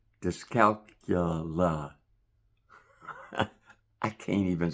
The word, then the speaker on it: dyscalculia: It sounds like disco and calculus. So two things that didn't make it. Discalcula is a specific number disorder.